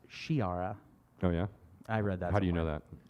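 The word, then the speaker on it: Sciarra: what's the guy's name skiara yara which actually should be pronounced shiara oh yeah i read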